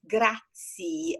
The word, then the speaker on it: grazie: You pronounce grazie as all the terms that in Italian end with E, which is written like E, that you pronounce E and we pronounce E. So as tagliatelle, that you say tagliatelli, or just, others that actually I'm not thinking about.